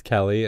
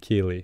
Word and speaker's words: Kelee: get through her head that it's Kelly and it's not Keely yeah she's always like